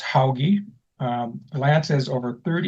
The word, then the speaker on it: Hauge: This is Lance Hoggy and it's pronounced Hoggy.